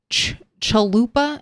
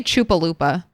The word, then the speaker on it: chalupa: I want to say chupalooa, but that's just because I hear someone say chupalupa and I know that's not right. Shaved chalupa. Say the word the way the word is spelled, not the fun way you want to say it.